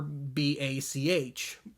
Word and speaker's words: Bach: Really, really famous, wrote tons of hits, but of course the first 4 letters of his last name are B-A-C-H, Bach. So, of course, Switched On Bacharach, despite the difference in pronunciation, was kinda inevitable.